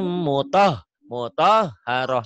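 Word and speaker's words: مطهرة: Karena mungkin kebiasaan kau bacanya mutahharah padahal muto ya, o, mutahharah. Memang di Arab itu tidak ada huruf o, tapi ini namanya taglid, tebel.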